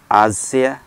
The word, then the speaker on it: Axia: hello this is porado exia some people pronounce it azir these cars are built